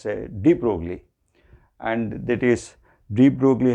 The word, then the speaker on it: de Broglie: revolutionary idea proposed by the French physicist known as de Broglie, or with the usual pronunciation we call him as de Broglie, and that is de Broglie hypothesis of matter waves.